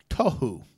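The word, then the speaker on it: תֹהוּ: In the Hebrew, it was the word tohu. I think is how you pronounce it.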